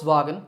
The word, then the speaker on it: Volkswagen: was sound but a the sound so folks Vagan is the correct way to say it alright